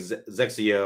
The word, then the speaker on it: XXIO: I haven't Zexio. I think that's how you pronounce it, Zexio, and it's XXIO is what it looks like.